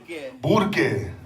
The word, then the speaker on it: Burque: And I always thought the way you say Albuquerque was Kirky. Right. But apparently there's a certain way. Nope, that's not how you say it, homie.